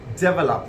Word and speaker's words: develop: Now, we often pronounce this as develop. You need to develop your English. This is not develop, but this is develop. Develop. You see when I'm pronouncing lop, lop. Okay, you would get the round like develop. Develop. I hope you get that.